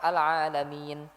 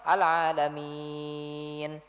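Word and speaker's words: العالمين: Kalau dua harakat alalamin cukup. Atau empat harakat sekalian. Alamin. Atau enam harakat sekalian. Alalamin.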